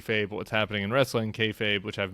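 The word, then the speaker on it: kayfabe: what's happening in wrestling kfabe which I've mispronounced for years I appreciated your your uh etymology of rhymes with hey babe it does look I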